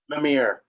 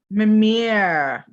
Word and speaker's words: Mimir: Mimir. Mimir. Yep. Just like the well from Norse mythology.